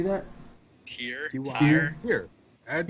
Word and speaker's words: Tyr: Tyr.